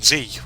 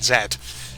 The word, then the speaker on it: Z: demands of people from gen z or gen zed depending on how you want to pronounce that letter and um basically this